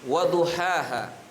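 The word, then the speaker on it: وَضُحَاهَا: Wasyamsi waduhaha. Ha yang pertama ha kecil dan yang kedua ha besar.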